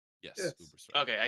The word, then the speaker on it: Ubersreik: in Uber strike it's Uber strike right yes Uber strike okay I said it right um you know